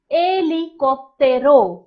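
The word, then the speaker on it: helicóptero: a helicopter is called eli koptero eil now if you will notice although it begins with an h we don't pronounce the h in spanish it is always silent in spanish so it is called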